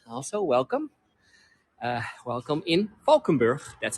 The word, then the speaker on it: Valkenburg: welcome uh welcome in Falkenburg that's how we pronounce it by the way Falconer that is the proper Dutch pronunciation although the people over